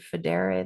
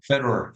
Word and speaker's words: Federer: Richard Federe, the guy big tennis guy. Federer or whatever his last Federer.